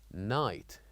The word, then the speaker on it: night: And finally, we have the word night, N-I-G-H-T. So here we wrote G and H, but as we said, we don't pronounce it.